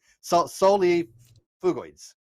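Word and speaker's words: Solifugae: But camel spiders, sulfogoids, solifogoids, or I can't pronounce it. Solifugoids.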